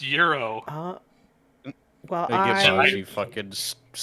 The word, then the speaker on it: gyro: It's called a euro. What? It's pronounced euro.